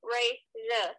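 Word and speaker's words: Rajah: Raja, yes. How do you spell that?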